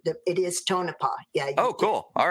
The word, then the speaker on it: Tonopah: Okay, but before I do that, I don't want to forget you did pronounce Tonopah correctly it is Tonopah.